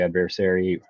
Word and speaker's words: adversary: I can counterattack against the adversary.